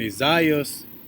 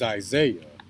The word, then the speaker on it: Isaiah: And Isaiah is a Greek pronunciation, but in the Hebrew is Isaiah.